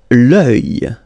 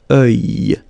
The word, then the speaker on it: œil: L'œil. L'œil. Strange combination of vowels here, okay? And then you will get the sound E and then Y. Œil. Alright? And it's masculine, by the way. Un œil. L'œil.